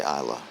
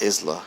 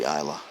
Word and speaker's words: Isla: I'll just say Isla and just leave out the S. It's not Isla. It must be Isla.